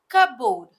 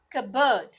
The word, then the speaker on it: cupboard: be jewelry shry let's see the next word cupboard no it's Cabo Cabo next most commonly mispronounced February February February no February February let's